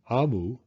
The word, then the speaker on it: Omu: note to the reader AMU pronounced AMU is the Igbo term for